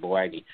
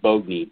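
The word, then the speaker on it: Boagni: Ken Boagney, or actually Ken Boagney is how it's pronounced. Everybody calls it Boagney, but it's actually Boagney, B-O-A-G-N-I, Ken Boagney.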